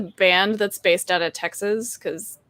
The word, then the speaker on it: Texas: me it is just texas so my necklaces always tell if someone's from texas because that final syllable the s will actually sound more like a z that's true that's true